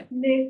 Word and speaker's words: l'école: Lecol. লেকোল, হ্যাঁ, last এটা silent.